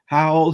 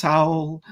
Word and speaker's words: Hywel: singing, and here in front of us is Hywel, who runs a board game cafe on a bus. And their name is, once again, it's Hywel.